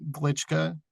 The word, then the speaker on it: Glitschka: of course but uh my last name seems difficult it really isn't it's pronounced and spelled the way you'd pronounce it glitschka glitschka Studios but because